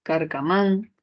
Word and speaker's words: carcamán: Luego tenemos carcamán, justificación aguda, sílaba tónica, man.